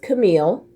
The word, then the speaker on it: Camille: they did but um it's actually pronounced camille so if you made it this far into the video now you know how to actually pronounce my name so my channel is